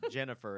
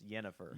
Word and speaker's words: Yennefer: Final Fantasy just like it's not Jennifer it's yennefer with those two movies you